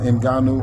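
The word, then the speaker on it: Ngannou: it I seen shout out to um let's pronounce his name right inuu he deserves that cuz he put on a hell of a performance SK that's what he did do uh in ganu uh he shook up the world he did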